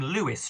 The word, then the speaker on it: Louis: And this tracks, I'm going to call him Louis Trevelyan because there is no E on the end of his name, but it's spelt L-O-U-I-S.